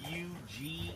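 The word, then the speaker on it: Huger: H U G E R QG Street. U G Street.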